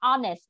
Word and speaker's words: honest: Chúng ta đọc là honest.